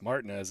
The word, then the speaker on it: Martinez: to is it martinez is it martinez and the word we have from jack is that it's martin as it's more of the cajun pronunciation he's from corpus christi but with family ties a little bit more east so seeing it's spelled the same way seeing it called martinez